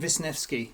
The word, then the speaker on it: Wisniewski: Ian Wisniewski. I'm saying that again because I learned how to pronounce it and quite impressed.